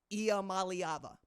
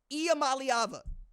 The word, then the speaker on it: Iamaleava: Iamaleava. Somebody tell Booger it's okay to pronounce that boy's name and get it wrong.